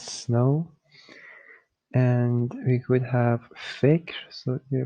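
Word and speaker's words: فکر: There is no Fikir or fikar. It's fikr.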